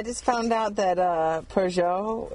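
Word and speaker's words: Peugeot: found out that uh pjo is not pronounced pgo and you mean the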